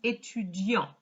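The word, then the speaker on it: étudiant: have said je suis etudian he wouldn't have pronounced the t because there's no e after it here we go again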